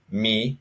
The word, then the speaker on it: mi: Me is pronounced me in Polish. It's the exact same, just maybe a little bit faster.